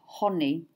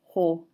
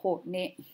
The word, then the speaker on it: Hone: famous hone harawira, and I often hear hone, and again you can hear there's that tendency to cut off after the consonant in English, but in Māori it's hone. So two syllables after the vowel, hone.